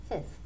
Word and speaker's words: fifth: So I said Fifth Avenue, but a lot of people say Fife. Fife for quinto, quinta. They say Fife for the ordinal. But the pronunciation, remember, is Fifth.